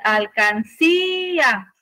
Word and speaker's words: alcancía: a quedar al Kia si yo quiero identificar la sílaba tónica voy a decir alcancía Cuál es la sílaba tónica Sale entonces es una palabra aguda y se acentúa porque termina en una vocal acuérdense que tenemos ya